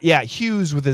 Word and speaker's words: Hughes: Miki Hughes Howard Hughes Hughes Howard Hughes is the pronunciation Hungary is in the